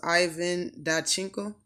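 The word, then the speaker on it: Ivan Dychko: And I believe this man's name is pronounced Ivan Dachenko.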